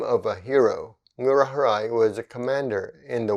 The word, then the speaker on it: Ngurah Rai: the way it's the name of a hero murarai was a commander in the war for independence